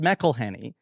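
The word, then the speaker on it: McElhenney: with someone and I've had to say it's pronounced melhenny right over over years that is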